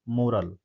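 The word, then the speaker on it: morale: हमारा आंसर हमारे सामने, एथिकल सीख या नैतिक शिक्षा, मोरल। अगला इंपॉर्टेंट वर्ड है मॉरल, ठीक है ना। ये क्या हो जाएगा, इसको हम लोग क्या प्रोनाउंस करेंगे, मराल, ठीक है ना, मराल, मराल इसको प्रोनाउंस करेंगे, ठीक है, मराल।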